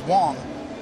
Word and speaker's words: Wang: Chen-Ming Wang's now with the Blue Jays. It's funny, you know, you talk about right pronunciations of names. Even the Yankees called him Wang. Yes, they did. His pronunciation was Wong.